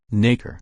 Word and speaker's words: nacre: Nacre. German. Felmut. Why would you pronounce it that way?